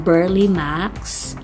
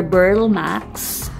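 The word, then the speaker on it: Burle Marx: Ito po ay Philodendron Burly Max or Burl Max. Yung iba po tinatawag siyang Burly Max. Yung iba naman ang tawag sa kanya ay Burl Max. Silent E na po siya.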